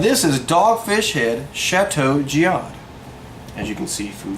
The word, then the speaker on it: Chateau Jiahu: giad spelled kind of words j-i-a-h-u but it's pronounced chateau giad and it's from dogfish shibuya which is out